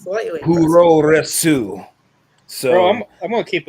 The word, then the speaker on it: puroresu: Puroresu.